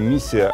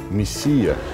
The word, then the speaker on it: миссия: начинают работу миссия мвф я бы немножко поменял ударение учитывая состояние экономики страны правильно говорить не миссия а миссия миссии в состоит в том